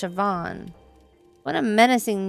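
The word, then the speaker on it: Siobhan: us back to the hallway from earlier see seean it's pronounced sioban what a menacing name says here that she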